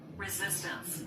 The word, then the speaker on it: resistance: 레지스턴스라는 불어가 영어로 리지스턴스예죠. 리스턴스예요. 따라서 해 보세요. resistance. Resistance. 그렇지. resistance. resistance 그렇지? resistance res스턴 그렇지? 그러니까이 저항력할 때는 그냥 res스턴스 이러면 안 돼.